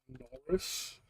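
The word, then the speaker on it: Norrus: Well, with uh a goblin whose name is It's Norris, but it's spelled with without an I. It's spelled with a U instead of an I. Norris.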